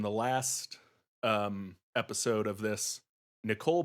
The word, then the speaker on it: Nicol: But then I hear like nickel, like the 5-cent piece. I hear it more with an E, like the I pronounced as an E, like Nicole Bolas.